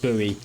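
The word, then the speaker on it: Bowie: the main Factory now I was calling this the Boe knife throughout playing but I've looked up online and I'm led to believe it's actually pronounced buoy either way it cost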